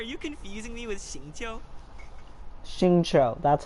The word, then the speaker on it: Xingqiu: Xingqiu, that's how you pronounce his name.